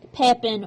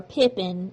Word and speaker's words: Pepin: pepen has donated here pepen or Pippen his name is pronounced and spelled two different ways so the donation of